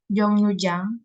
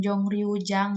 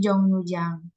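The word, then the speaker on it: 정류장: Kemudian di sini ada Jongnujang. Ini dibacanya bukan Jongryujang ya, tapi Jongnujang.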